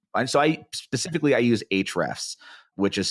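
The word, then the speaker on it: Ahrefs: go into any I'm sorry specifically I use H refs which is spelled a href s comm it's very similar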